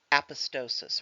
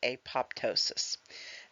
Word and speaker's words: apoptosis: undergo necrosis that die may be actually undergoing apostosis or you can pronounce it apoptosis this is a genetically programmed cellular death all